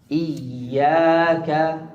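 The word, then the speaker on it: إياك: Iyaka hamzah maksurah i ilal asfal iya alya syadid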